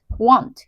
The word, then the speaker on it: won't: want 이렇게 발음이 되는데 이거 발음이 여러분 뭐랑 똑같냐면 여러분들이 알고 계신 요 want 있죠. 원하다랑 똑같아가지고 아마 많이 헷갈리실 거예요.